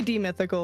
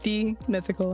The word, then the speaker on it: Demythical: It's supposed to be Demythical, like you said it perfectly. It's just Demythical. That's literally how it is.